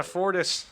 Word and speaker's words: Fortis: in october so yeah fortis yeah that should be fun that rhymes with portis and is also rhyming with boris yes i am boris